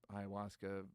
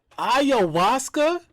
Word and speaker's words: ayahuasca: Yeah, I was an atheist, and then ayahuasca journey number. Oh, that's how you say it? 4. Ayahuasca?